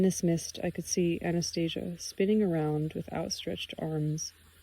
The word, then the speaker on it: Anastasia: As noted in the translator's preface, this reflects the Russian pronunciation of her name, with the stress on the syllable C, pronounced C, Anastasia. But I still call it Anastasia.